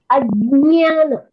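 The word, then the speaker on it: अज्ञान: When these two letters get together, J and Nya, you get Nya. So the pronunciation is Ajnana. Yes, it's more like J, but I hear some people pronounce from their throat Ajnana, which I think is wrong. Incorrect pronunciation. That is an incorrect pronunciation.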